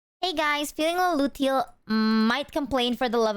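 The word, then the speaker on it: luteal: Lucille phase.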